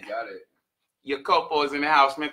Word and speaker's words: Iakopo: We brought in my man, Iakopo. Did I pronounce that right? You got it. Iakopo is in the house, man.